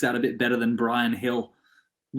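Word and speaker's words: Bryan Gil: i thought he said hill i was like what the that's that's how you pronounce his name it's like brian hill man like the spanish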